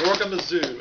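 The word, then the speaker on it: Zorgamazoo: Author of Gorgamazoo. Is that how you pronounce it?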